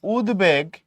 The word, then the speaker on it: উদ্বেগ: আবার তুমি যখন বলতেছো উদ্বেগ তুমি এখানে বফলার উচ্চারণ বহাল রাখো উদ্বেগ এখানে বফলার উচ্চারণ